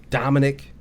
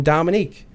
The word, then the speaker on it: Dominic: They'll look at his name. They'll see how it's spelled, and it's spelled phonetically. Yeah. Dominic. Dominic. Yeah. And they call him Dominique.